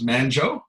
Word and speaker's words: Manjo: Manjo is, so my nickname is pronounced as Manjo, like banjo.